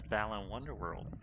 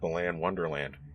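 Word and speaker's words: Balan Wonderworld: nobody can pronounce it everyone i've ever seen who try to pronounce it called it the land wonderland why isn't it called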